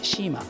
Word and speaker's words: Cima: This is a Cima, we pronounce that as “Shima”.